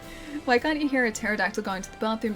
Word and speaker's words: pterodactyl: Why can't you hear a pterodactyl going to the bathroom? Because the pee is silent.